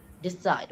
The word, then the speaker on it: decide: Decide. When a verb is uh like containing two syllables, the second one is usually the stressed one. Decide. Side is a stressed one.